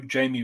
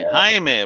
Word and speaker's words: Jaime: And then we've got the Blue Beetle, Jamie Ray's trade paperback. Jaime, bro. Jaime. Well, I got a friend. His name's Jamie, and his name's spelled like that. Yeah, but this is Jaime.